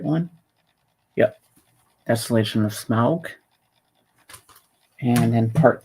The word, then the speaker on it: Smaug: Part 2, The Desolation of Smaug. That's how you pronounce it, Smaug.